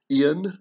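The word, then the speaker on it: Iain: still hear that name it's spelled typically spelled i a i n in a more uh welsh celtic way whereas nowadays we typically spell it i-a-n but it's the same sound um just like the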